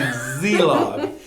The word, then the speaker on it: Szelog: I just love saying your last name, Szelog. And I've learned how to say it because the S is silent, right?